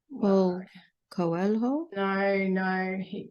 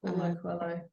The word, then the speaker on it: Paulo Coelho: Paul Coelho? No, Paulo Coelho.